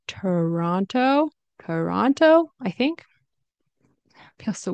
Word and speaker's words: Toronto: say Toronto Toronto Toronto I believe locals will say it differently like Toran Toronto or something like that but I say Toronto Toronto Toronto right sometimes I'll pronounce the T here sometimes I won't and get rid of the